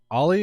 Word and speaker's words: Ally: the show is it olly or I don't know if I've ever said your name before uh it's just Ally but Olly is also acceptable you know any pronunciation is fine get the are you